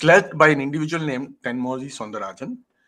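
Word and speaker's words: Thenmozhi: It's led by an individual named Tenmoji Soundarajan. Tamils would pronounce it as Tenmori Soundarajan.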